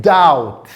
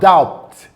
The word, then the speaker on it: doubt: Another word we have here is the word doubt, not doubt. Doubt, doubt. When you are not sure of something, the word is doubt.